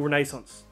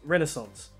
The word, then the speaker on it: Renaissance: and then high Medieval Renaissance or Renaissance fray how do you pronounce that without an Aussie accent either pronunciation is fine but I like to say renascence if that helps hey mate I've been